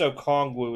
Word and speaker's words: Okongwu: I think it's Okongwu is how you say it, though.